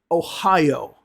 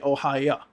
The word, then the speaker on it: Ohio: Those, instead of saying O, they'll say ah. Let me give you a few examples some places, okay? Ohio. Many Russian speakers will say Ohio.